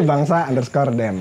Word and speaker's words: bangsa_dem: Jadi bukan Bang Sat. bukan ya. Tapi bangsa_dem. Oh iya. Jangan dipisah, itu tetap underscore.